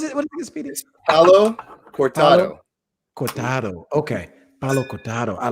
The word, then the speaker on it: Palo Cortado: Palo Matoda? How do you say it again? What is it? What is it, Speedy? Palo Cortado.